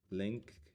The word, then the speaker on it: linked: Linked. I know that it's never pronounced link. You go linked list, but there's an ED there.